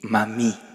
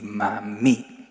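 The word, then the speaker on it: mamie: En Francia a los abuelitos les dicen papi y mami, así con el acento en la i, papi y mami.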